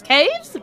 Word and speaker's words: Caves: Not Caves. Caves badge on. It's said with the question mark. You've got to say it like that.